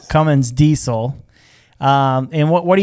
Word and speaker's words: Cummins: dodge ram coming coming how do you say that there's no g on it there's no g no g cummins cummins diesel um and what